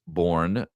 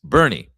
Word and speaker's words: Boerne: Um pronounced sometimes born, but that is incorrect. It's a fact. It's Bernie.